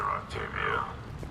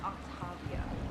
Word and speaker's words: Octavia: That's an impressive barrier, Octavia. Our file says you've been working on shield technology. It's a handheld multi-core solution based on cyclonic barrier technology, Jackal. And it's pronounced Octavia.